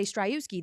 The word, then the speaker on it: Striewski: name it's quite phonetic that's why I always say struski that's how I remember how to spell it correct s r i e wsk k i if you drop the W that's why the W is the only thing that is silent but it is phonetic